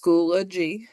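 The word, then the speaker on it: Schoology: class that's going to be held so it's pronounced schoolo G um and so this is this is where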